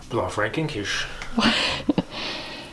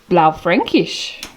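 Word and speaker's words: Blaufränkisch: then we have a how do you say that mike blow frankinch no i think it's blau frankish it slips don't sick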